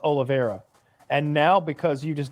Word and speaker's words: Oliveira: Well, Cowboy Oliveira, it's pronounced Oliveira.